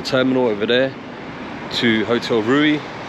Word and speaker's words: Riu: and we're off to Hotel rui Caribe proper correct Latino pronunciation there for five nights